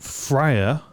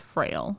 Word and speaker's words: Frail: Fria, I am shocked by this announcement as well. Uh, I think that's pronounced frail. Frail. Sorry, not Frya.